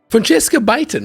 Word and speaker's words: Francesca Beighton: Francesca Beighton, right? Yeah. That's that how I pronounce it?